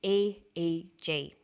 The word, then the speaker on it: EEG: says and e8g that's an abbreviation we don't pronounce it ich we say a eg a EG stands for electroencephalograph that's a type